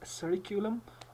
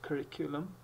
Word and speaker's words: curriculum: a curriculum vitae curriculum the time some people pronounce cirriculum but the correct pronunciation is curriculum the time so now what is curriculum over